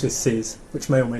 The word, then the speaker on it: þið: And you rhymes with it, if that helps. Vid. Yeah, thith.